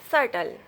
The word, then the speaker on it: subtle: B is not pronounced after T usually. When B comes before T, then B will be silent. You see this word, that. B will be silent. That, doubt, subtle.